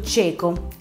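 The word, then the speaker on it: checo: Al secondo posto abbiamo invece la CHE, come nella parola cieco, che in italiano si scrive così, ed è, si pronuncia appunto cieco, ed è l'abitante della Cecoslovacchia.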